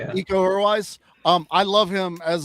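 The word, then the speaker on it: Iko Uwais: Um, Io or Io, I forget how you pronounce it. Ecoise. Yeah, eco-wise.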